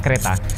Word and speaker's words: Creta: Bukan kereta pakai K ya, tapi cereta. Bacanya kereta.